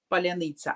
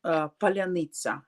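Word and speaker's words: паляниця: So like the word Polyanitsa.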